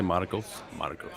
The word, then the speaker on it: Marcos: I'm going to say that's probably, instead, can I pronounce it correctly and say Marcos?